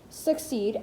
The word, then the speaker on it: succeed: likely to split it so that suck is the second syllable of a trochee, while seed is the first syllable in another one.